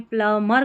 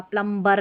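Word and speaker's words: plumber: ये थोड़ा सा मिसप्लेस हो गया, ये भी थी स्पेलिंग, इसमें प्लमर करके पढ़ा था, प्लम्बर नहीं पढ़ना.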